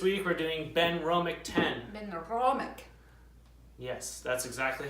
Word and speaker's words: Benromach: Benromach. Yes, that's exactly how you pronounce it.